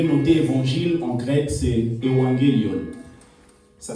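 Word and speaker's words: εὐαγγέλιον: Vous pouvez noter évangile en grec, c'est evangelion. Ça s'écrit E-U-A-2-G-E-L-I-O-N. E-U-A-2-G-E-L-I-O-N. Evangelion.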